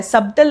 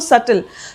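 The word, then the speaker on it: subtle: यहां पे B silent है। सबटल नहीं कहते इसको सटल।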